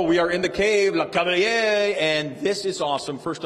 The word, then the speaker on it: Lecavalier: We are in the cave, Lecavalier, and this is awesome.